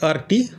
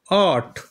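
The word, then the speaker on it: art: আর্ট এরকম উচ্চারণ নয় র টা হালকা উচ্চারণ করবে আর্ট মানে মনে হবে যেন র নেই আর এর যে উচ্চারণ র সেটা যেন নেই এরকম এ আর টি আট ঠিক সেই রকম সি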